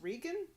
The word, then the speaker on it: Reagan: tries to organize them Mork pronounces President Reagan's name as rean which I think was common particularly I want to say East Coast maybe upper middle class maybe liberal although Reagan was of course an actor who was famous